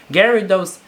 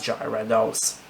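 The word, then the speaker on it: Gyarados: still remember the time my friend pronounced gary dose as gyra dolls number eight not using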